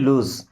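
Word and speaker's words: lose: देखिए इसे लॉस नहीं पढ़ते, क्या पढ़ते हैं, लूज।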